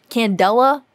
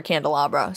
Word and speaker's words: Candela: my real life now i'm pretty sure you pronounce it candela and i just can't stop calling her candelabra so okay ivysaur ev